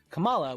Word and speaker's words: Kamala: And they pronounce it Kamala, which is a lot like Malala, like, you know, Malala Yusuf.